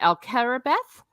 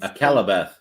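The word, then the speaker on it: Akallabêth: I always mispronounce it. Alcarabeth is Akalabeth.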